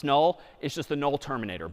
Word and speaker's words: NUL: N U L pronounced null is just the null terminator back slashzero.